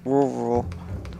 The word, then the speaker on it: rural: I discovered that many English people don't know how to pronounce rural. Rural.